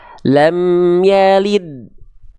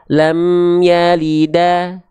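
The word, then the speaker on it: لم يلد: dibaca dengan keadaan konsonannya konsonan dari huruf Dal adalah Ed adalah Ed adalah Ed maka ketika kita lafalkan pelafalannya adalah lam yalid yang dasarnya dulu Sekali lagi enggak dibaca lam yalida lam yalidi ataupun lam yalidu enggak Oke tapi dia dibaca lam yalid itu dasarnya Jadi huruf dalnya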